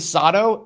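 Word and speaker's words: Sato: Technically, his name's Sodto. S A T O. It's all about the pronunciation.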